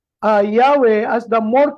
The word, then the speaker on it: Yahweh: Pero ayon sa maraming mga scholars, ang tama pong bigkas ay hindi po Jehovah, kundi Yahweh.